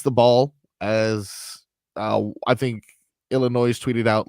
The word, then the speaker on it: Illinois: He went to Illinois last year, but prior to that was on FC Barcelona. By the way, nobody pronounces the S. I was just about to say, when you said Illinois, it's Illinois.